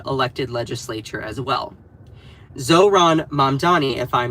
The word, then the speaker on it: Mamdani: So, okay, so I'm seeing more people saying Zohran Mandani. All right, let's talk about him. So, you all may have heard of the name Zohran Mamdani.